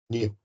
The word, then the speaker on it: nu: whereas this is a Greek letter which you pronounce as new right so so now uh if you have